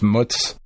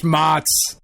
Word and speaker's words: mozzarella: Pronounced mutz. Well, fresh mutz. The mozzarella. I'm American, goddammit. I bastardize the words that I say. That's right. Some fresh mozz.